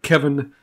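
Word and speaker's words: Cefin: And so Cymru, and in fact, my name would be Kevin is how they spell it. And then Kevin is C-E-F-Y-N. It's C, it's pronounced K-E-V. The Y is like the I.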